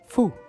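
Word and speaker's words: ふ: একটু ডিফারেন্ট সেটা হচ্ছে জাপানিরা হু ওভাবে উচ্চারণ করে না হাটা হবে ফু আমরা যেভাবে হু বলি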